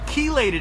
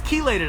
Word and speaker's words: chelated: iron which is called chelated iron well I got a comment from one of my fans that told me I was pronouncing it chelated iron so thank you for the correction it's chelated iron so I'm really glad